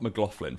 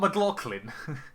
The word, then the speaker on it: McLaughlin: So Scott Mclofflin for instance finished. Sorry, who? How do you say that name? Scott McLolin.